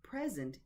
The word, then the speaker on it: present: The first word, present, is a noun, and it is stressed on the first syllable, present. And the verb, the stress is on the second syllable, present, present.